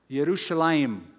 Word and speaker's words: Yerushalayim: is the pronunciation it's Jerusalem but the Hebrew pronunciation is Jerusalem yerushalayim the city of peace the new name it's